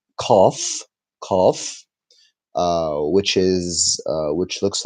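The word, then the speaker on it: قاف: And Qaf, in Egyptian Arabic, it's turned to eh. So Qaf is pronounced like the first letter in Arabic, which is Alif, which looks like this pen, Alif, just a stick.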